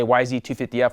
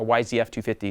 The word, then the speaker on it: YZ250F: on a motocross, say YZ250F with a good rider on there. YZF 250 is the correct way to say that.